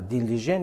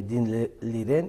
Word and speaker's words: 丁立人: که مسابقه بین داوطلبان دست بالا شد و دین لیژن یا اینکه دین لیرن او رو خیلی تلفظ میکنن نسبش رو جای دوم گرفته بود